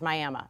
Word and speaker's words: Miami: one town in Oklahoma spelled Miami and it's pronounced Miami so there you go uh I don't know